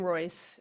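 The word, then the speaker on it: Raisz: And pronounced his name correctly. Um, he's one of my favorites. Irwin Royce. Um, there you can see it spelled Rays Royce. Um, I did I did learn that pronunciation from one of his sons, so I'm pretty sure it's right.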